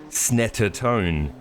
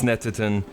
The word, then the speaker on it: Snetterton: is a lap of snetatone that's right no it's snatterton it's pronounced snetterton uh it looks like